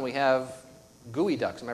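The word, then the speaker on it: geoduck: for example here in the sound we have gooey Ducks am I pronouncing that correctly the fact that anybody eat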